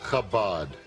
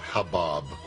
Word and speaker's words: Chabad: Just put the back part of your tongue against the soft palate and blow.